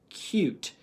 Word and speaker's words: cute: Add that bossy E. K, oot, coot, or k, ute. Cute. Right? It's cute, okay?